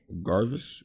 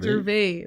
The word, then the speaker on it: Gervais: and some other guy named Garvis or Ricky Gervais. Stupid. What? What'd I say? Garvis? Ricky Gervais. Gervais? Yeah, Gervais. The S is silent.